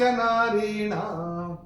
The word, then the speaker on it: नारीणाम्: चरण की समाप्ति पे ना के ऊपर अनुस्वार का उच्चारण केवल और केवल म होगा, चूंकि ये चरण की समाप्ति पे आ रहा है।